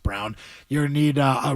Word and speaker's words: Braun: Um, it's spelled Braun, pronounced Brown.